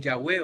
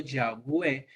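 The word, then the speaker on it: Yahweh: el Antiguo Testamento eh la pronunciación original parece haber sido yahwe y está formado por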